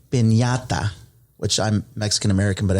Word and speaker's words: piñata: We bought it's officially pronounced a piñata, which I'm Mexican-American, but I don't speak a lot of Spanish.